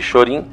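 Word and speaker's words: Shōrin: denominada shorin-ryu sendo que chorinho é a pronúncia japonesa de Shaolin e dividiu-se em três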